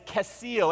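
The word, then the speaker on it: כסיל: and the word fool the hebrew word for that is casill everyone say casil that was better and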